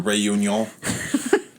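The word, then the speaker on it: Réunion: island of reunion reunion it's spelled like reunion but it's French so you know rayun yeah thank found on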